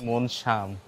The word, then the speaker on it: Mon Jam: মনজাম হলো English spelling. কিন্তু উচ্চারণ থাই উচ্চারণ হচ্ছে মনশাম।